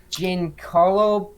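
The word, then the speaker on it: Giancarlo: name john carlo you know it's pronounced gin carlo what's your pronounced as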